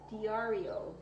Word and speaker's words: Diario: Diario is pronounced D-R-E-O. Diario.